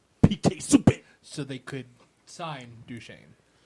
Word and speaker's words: Subban: I'm not going to say it like that. PK Subban! That's how you do it.